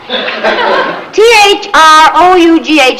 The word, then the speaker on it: through: T-H-R-O-U-G-H is pronounced through.